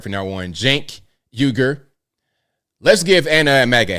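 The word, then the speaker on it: Cenk Uygur: Jank Uger.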